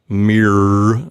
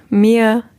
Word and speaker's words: mirror: ends of these words we don't want them to say mirror and deer yes indeed no it's much more open than that mia dia i think the reason